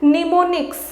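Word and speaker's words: mnemonics: यहाँ देखिए ये एम से शुरू हुआ है लेकिन इसका प्रोनाउंसिएशन होता है निमोनिक्स।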